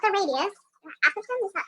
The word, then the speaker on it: apothem: Apothem, is that how you say it? Yep, apothem.